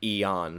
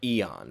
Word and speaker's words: Eon: Aeon Flint not Homer Ian Flint that's Homer Aeon Flint with with eeo and not ia and just thought I'd clarify I'm not pronouncing it wrong it's his name is literally Eon Flint now obviously and I'm